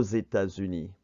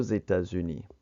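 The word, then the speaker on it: États-Unis: or Zetas uni and on the last one you can see that it does uni is plural that's why they X carries across and it sounds like a Zed or Zetas uni let's go ahead and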